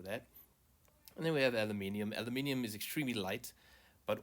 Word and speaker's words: aluminium: But Americans say aluminum. It's actually, I mean, it's aluminium, because there's clearly an I here.